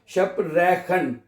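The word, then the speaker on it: sprechen: ये जो CH है ये खे और शीन की आवाज में पढ़ा जाता है। इसको आप पढ़ सकते हैं शप, ये तो शिप हो गया ना, शप रेखन, ठीक है। इसको अपने शप की, मैं उर्दू में भी लिख देता हूं, शप की आवाज पढ़नी, जैसे स्पोर्ट है ऐसे करके, ठीक है।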